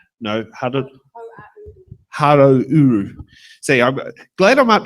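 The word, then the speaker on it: Hauāuru: Te Tai Hararuru. No, Harouru.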